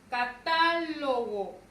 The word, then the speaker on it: catálogo: Tenemos catálogo. Catálogo. Vean, la mayor fuerza de voz recae en ta.